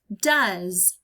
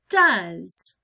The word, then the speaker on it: does: letter D did uh usually when I hear the UH sound I think of letter U but in the word does we have two letters that work together to make the sound it's